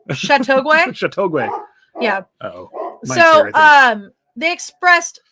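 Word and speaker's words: Châteauguay: children expressed great concern you said it right chateauguay yeah so um they expressed great concern despite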